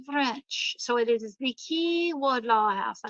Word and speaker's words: Quay: Now, Key is spelled in the French way. It's Quay, because I was saying Quay Wardlaw House. And somebody laughed at me on my tour and they said, it's the Key Wardlaw House.